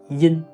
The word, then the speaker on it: yin: In this pronunciation, we don't pronounce the "y". We directly pronounce "in". "yin".